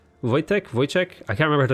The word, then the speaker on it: Wojtek: know sometimes W's in W is in Polish and sometimes German I think I pronounced like a V so like I knew a guy whose name was voice check but it was spelt with it W was like wo AI TJ e CH Wojtek Wojtek voice check I